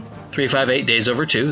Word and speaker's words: 358/2 Days: to have been defeated during Kingdom Hearts 1, 358 Days Over 2, that's really how you say it, or Kingdom Hearts 2.